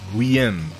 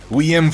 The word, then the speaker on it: Guillaume: It's like William, sort of, isn't it? Guillaume.